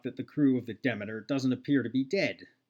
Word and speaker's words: Demeter: a derelict vessel called the is demeter it's pronounced demeter in this but i believe demeter is the correct pronunciation collides with the station